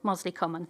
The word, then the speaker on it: Mosley Common: That's JPA 34, the M6 Junction 25, and JPA 35, land north of, is it Mosley Common? I want to make sure I get the pronunciation correct. Mosley Common, thank you.